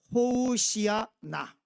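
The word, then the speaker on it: הושענא: 우리 발음대로 한다면, 그럼 우리는 히브리어를 잘 아니까 그러면 우리 성도님들, 자, 히브리어로 뭐라고요? 호우시아나.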